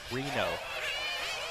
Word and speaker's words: Reno: Someone in the chat room said it is pronounced Rino. It is. Yeah, you were saying it correctly. I screwed it up. There you go. See? Reno. It's because there's no H. That is true. That would be Rhino.